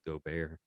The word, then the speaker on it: Gobert: and he's like, it's Gobert, but in his French accent. It's a Gobert. Whatever you say, Gobbert, I can't understand you, buh.